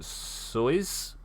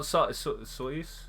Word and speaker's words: Soyuz: Oh, the U is short, not Soyuz. Soyuz.